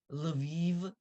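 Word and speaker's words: Lviv: will become a Shia and this is how Viv is spelled it's l and then the soft sound and the IV so the closest that I can think of uh is leviv so it's kind you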